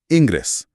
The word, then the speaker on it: ingress: सातवां शब्द है इंग्रस। स्पेलिंग है आई एन जी आर ई एस एस।